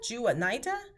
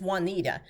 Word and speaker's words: Juanita: i've had this happen people would say my name and they're looking jew uh nida jewett naida juanita and i know if i'm somewhere and someone is saying juvenida they're talking about me but it's juanita so you should first